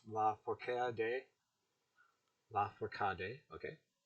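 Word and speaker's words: Lafourcade: la for que hade la forcade okay with the emphasis on the third syllable like a spanish word but verb nasty bear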